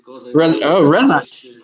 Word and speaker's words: Rezacz: Rezacz. Probably you're pronouncing it. You're probably pronouncing it right as the Polish. The Polish CZ is usually something like a ch.